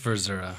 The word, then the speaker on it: Verzura: We're with Verzura. am I pronouncing that right? We had a discussion. I always pronounce it. I always say, I don't know, never mind. It's just Verzura.